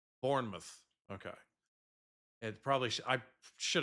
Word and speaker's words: Bournemouth: Bournemouth is pronounced Bournemouth. Bournemouth.